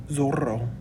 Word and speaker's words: zorro: which is pronounced and our word for fox is el zorro so hopefully you notice that there's a double r so you're going to have to roll those r's for me which would